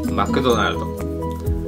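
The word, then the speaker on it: マクドナルド: 그다음에 두 번째 단 마크도나르도. 마크도나르도 이거는 발음을 들으시면 아마 조금 짐작이 가시는 분들도 계실 겁니다. 마크도나르도. 마크도나르도. 이거는 한국말에 맥도날드. 맥도날드. 맥도날드 아니라 마크도나르.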